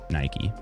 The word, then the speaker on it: Nike: So the closest, like I guess the English American pronunciation, I shouldn't say English, the American pronunciation of that is Nike.